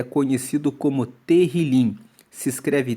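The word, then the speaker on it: תהילים: Para os judeus, o livro de Salmos é conhecido como terilim. Se escreve T E H I L I M.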